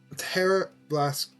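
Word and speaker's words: Tera Blast: always live in adamant teror blast ter blast Terra Blast grassp yeah that's how you say it um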